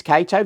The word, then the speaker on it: Cato: And your name is Cato. Right, your name is Cato, that's right. And Cato rhymes with potato.